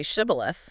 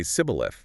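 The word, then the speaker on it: shibboleth: If he said no, they'd make him say Shibth. Exactly. They'd say, "All right, say Shibth." But the Ephraites apparently couldn't pronounce the shi sound correctly. They'd say cibil.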